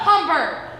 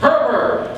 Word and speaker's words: Herbert: Shut up, Humber. It's Herbert. H-E-R-B-E-R-T. Good. I'll spell it right on your grave.